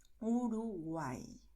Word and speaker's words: Uruguay: Bueno, atención a que si la letra Y aparece al final de palabra, ahí el sonido será el de I, Uruguay, ¿vale?